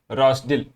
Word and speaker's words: Rozdil: of all he loves Town rosol Ukrainian pronunciation is rosil okay however rosil is